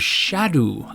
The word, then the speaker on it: Scadu: has pointed out, but the pronunciation of scadu is shadoo, I think." Oh gosh darn it. I think it's old English.